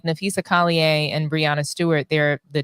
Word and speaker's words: Collier: If Dominique don't stop saying the French version of that girl's name, like it's Jessie Smollett, it's Collier.